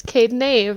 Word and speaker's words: Kaden Ave: correcting Brad, because actually I thought it was Av as well, so I would have butchered that. Yeah, it's because my name's Kady and then my business partner is Avery, so it's Kaden Ave, like the two of us, but we were like,